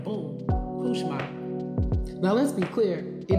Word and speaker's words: Couchemar: he said to me, "It's not cooch n it's French. is Kushma.